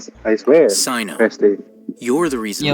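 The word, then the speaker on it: Cyno: By the way, that's how you pronounce Sino's name.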